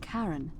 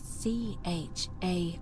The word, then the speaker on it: Charon: It's just as you described it, only your pronunciation is a little off. The name you heard wasn't Charon. It was C-H-A-R-O-N, as in Charon, the ferryman of the dead.